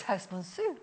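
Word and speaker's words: Herstmonceux: It's Hurstmonceau. Oh. Hurstmonceau. Why? Because there's no A in it. It's a Sussex pronunciation and we go with it.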